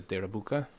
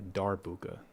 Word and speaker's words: darbuka: Now, the last element I want to add is the derabuka. Or darbuka, I think is how you say it.